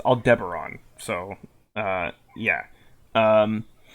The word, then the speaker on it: Aldebaran: Apparently this is pronounced. I learned recently it's Aldebaran.